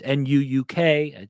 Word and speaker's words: Nuuk: capital city nuke it's Nuuk it's pronounced like nuclear like Nuke is closer